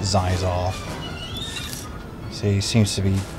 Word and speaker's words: Xizor: It's Xizor, or X-Xizor. Seems to be some confusion over exactly how it's pronounced. I've always pronounced it Xizor.